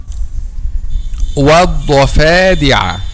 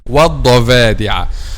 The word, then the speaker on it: الضفادع: By the way, letter V is not the sound of letter V not found in Arabic. The sound of the letter V not found in Arabic. Okay, so it's والضفا والضفادع, not والضفادع. This is the common mistake among native Arabic speakers themselves, not just non-native Arabic speakers.